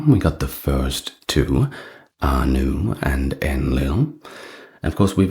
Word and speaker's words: Ea: We got the first two Anu and Enlil. Of course, we've already mentioned the name Enki, and that is our next deity. He's also known to the Acadians as a that is spelled E A.